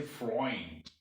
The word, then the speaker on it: Freund: white vice means white eu is not pronounced u it's pronounced oil in german example oil oil oil so eu in words like friend in english they don't say friend they say freund friend and german is